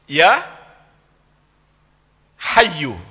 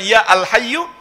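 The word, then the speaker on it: يا حي: Padahal sebelumnya adalah alhayyu ada alif lamnya. Kalau alif lamnya hilang, maka tanwinnya kebaca menjadi hayyun. Tapi ketika masuk ya, maka bacanya menjadi ya hayyu. Jadi bukan ya alhyyu, bukan pula ya hayyun.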